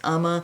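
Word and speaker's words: Uoma: brand it's spelled u o m a it's pronounced Umma it was first an Ulta brand and I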